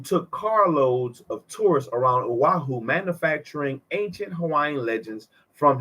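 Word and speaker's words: Oahu: oaho how do I pronounce it aahu aahu pronunciation aaho that was right aahu ohaho he masqueraded as a native Hawaiian who took carloads of tourists around aahu manufacturing ancient Hawaiian legends from his imagination and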